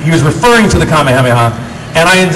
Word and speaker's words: Kamehameha: the Kamehameha and I I refused to go command man because I got so much Flack from kids for saying it wrong and I want to say it like it's intended in Japanese right so I'm kind of a purist I am a purist in that regard and and so the